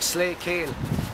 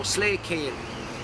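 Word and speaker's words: Slay Kele: And like the Waterford people would pronounce Slee as Slay. And so Slay Cale. And you'd actually see that in papers that so and so from Slay Cale, S-L-A-Y, K-E-L-E, Slay Cale.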